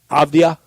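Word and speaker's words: Avdija: Avdia.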